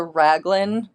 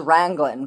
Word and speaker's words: raglan: I always thought it was Wrangling, but then there's no N in it. So I know that's not how you say it.